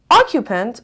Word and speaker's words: occupant: Occupant, بچه, the stress is on the first syllable, means people living in